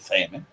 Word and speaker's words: salmon: It's about you and I like salmon. An interesting fact about salmon is that the L is silent. It's pronounced Salmon.